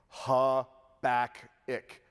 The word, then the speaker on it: Habakkuk: Habakkuk.